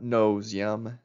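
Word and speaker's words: Ngo Diem: Uh no ZM. That's spelled N O D I E M.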